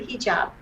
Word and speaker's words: hijab: students do you ever feel uncomfortable wearing the hijab am i pronouncing it correctly yes totally correct right i